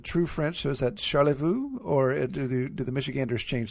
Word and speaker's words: Charlevoix: So is that Charlevoix, or do the Michiganders change that somehow? Charlevoix is the official pronunciation.